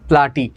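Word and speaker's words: Platy: একটা দেখো হলো তোমার প্লাটি বা প্লেটি উচ্চারণ করতে পারো, এটা মানে হলো চ্যাপ্টা, আর হেলমিনথেস মানে হলো তোমার কৃমি।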